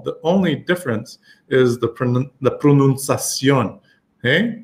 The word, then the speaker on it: pronunciación: The only difference is the pronunciación. Okay? Pronunciation is an ION word. Pronunciación. So I'm putting the stress on the last part of that ION.